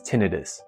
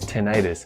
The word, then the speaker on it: tinnitus: pronounce the word is tinnitus the other way to pronounce the ringing in your ears is tinnitus that uses the section itis that typically refers to inflammation like laryngitis inflammation of the throat you do not have